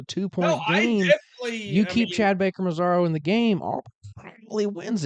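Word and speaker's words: Mazara: started off with a bang today Chad Baker mazada is that how you is that how you pronounce mazaro mazaro my bad comes out and did did did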